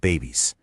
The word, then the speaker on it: BEBIS: She discovered BEBIS, pronounced babies, a radical idea focused on animal-based foods.